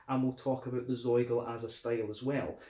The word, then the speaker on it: Zoigl: But it was pronounced Zoigl in the Oberpfalz region, and the Zoigl is